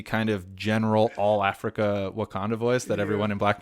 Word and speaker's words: Wakanda: But, don't go here saying Wakaba. It's Wakanda. Well, I was going to say Eddie Murphy is doing the kind of general all Africa Wakanda voice that everyone in